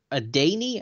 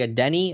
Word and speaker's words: Adeniyi: Well, you had the pronunciation of it's like a Danny. I think I say a Denny.